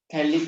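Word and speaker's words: phthalic: थैलिक acid लिखते हैं, पीटी इसमें जो है साइलेंट होता है ना, थैलिक एसिड।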